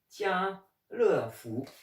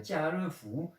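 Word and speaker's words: 家乐福: on va regarder ensemble carrefour qui se dit tiens le fou tiens vous faut savoir que le tianfu ça ressemble un peu à la prononciation quand on a une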